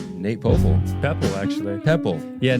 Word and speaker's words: Poeppel: Mm, So there you go, Poeppel. Just disregard the O and it's pretty perfect.